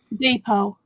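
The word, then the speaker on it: deed poll: Deed-poll.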